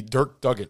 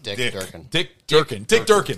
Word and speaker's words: Dick Durkin: I actually didn't mind Alistar, the Dirk Duggan. How do you say his name? Dirk Duggan? Dick Durkin.